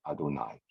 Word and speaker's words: Adonai: So Yud, Hey, Vav, Hey, the 4-letter tetragrammaton, not recited. We pronounce it Adonai.